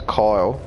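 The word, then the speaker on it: X Æ A-12: he called his kid ex a a twelve which is supposed to be pronounced as coil I couldn't just call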